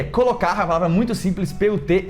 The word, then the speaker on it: put: Primeiro, esse T no final, que muita gente fala put, só que esse a gente já viu esse de tia, não existe no inglês, é sempre o tia, então é put.